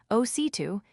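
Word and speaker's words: osito: "Well, the accent is on the second syllable. Ositu, it's a common mistake."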